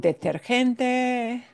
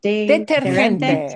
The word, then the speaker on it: detergente: Ya sea con detergente. Ya sea con deter. How do you say it? Deterente.